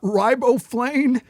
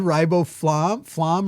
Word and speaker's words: riboflavin: You've got riboflavin." He said riboflam or riboflam or some weird. He didn't even pronounce the V at It all.